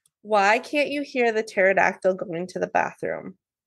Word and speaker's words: pterodactyl: can't you hear the pterodactyle going to the bathroom because the p is silent yeah uh what would